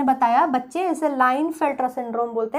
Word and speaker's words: Klinefelter: ने बताया बच्चे इसे लाइन फिल्टर सिंड्रोम बोलते हैं जैसे आप लिखते हैं तो पीस साइलेंट होता है इसे patailin नहीं बोलते